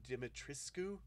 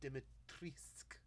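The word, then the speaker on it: Dimitrescu: and i was tr i was saying her name wrong uh i thought it was dimitrissku because i'd that's how you spell the name i guess but it's lady dimitrisk is her name uh for people who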